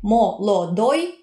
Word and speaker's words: молодой: Молодой, giovane, молодой, pronunciato come молодой.